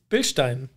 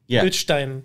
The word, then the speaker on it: Bilstein: So let's hear a German actually pronounce the name BILSTEIN. It's BILSTEIN. Perfect. So it's a BILSTEIN. Yeah, and you kind of on the bill side, you kind of give it a little extra push, right?